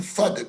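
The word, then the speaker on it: Vater: Lo mismo padre, en latín era pater, y griego no sé, alemán fater, porque la B corta, la V se pronuncia como F, por eso los alemanes dicen Faldifia en vez de Valdivia, ¿no?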